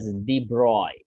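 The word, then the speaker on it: de Broglie: Okay, लिखा है pronounced as दी ब्रॉय। Okay, मैंने ऐसा कहा था, यहाँ पे एल है, कोई दी ब्रोगली कहना चाहता है, कोई दी ब्रॉय कहना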